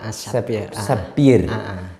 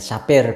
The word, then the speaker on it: sapphire: Sapphire. Bacanya dalam bahasa Inggris ya sapphire ya, sapphire.